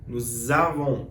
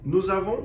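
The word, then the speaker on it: nous avons: função de por exemplo é o s nos avam nós temos o voo vos a ver com o sonzinho de Z também que é o que nos avam nós temos vos a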